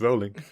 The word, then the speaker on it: Rowling: for long enough like no it's rolling like bowling like rolling no I didn't it's not JK it's Juke maybe that's where comes like just kidding it's rolling yeah sorry I I